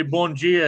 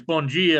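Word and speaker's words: bom dia: it's the morning time you say bon gia it's just like uh bonjour yeah it's like spanish you know but it's bungie and then abrigado is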